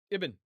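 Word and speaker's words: ابن: The alif at the beginning and the I vowel that goes with it is not really a part of the word. That's a uh a prosthetic vowel. Okay. And uh it it is just added to facilitate pronunciation. But iben iben. Okay. So, Ben in Hebrew, iben in Arabic.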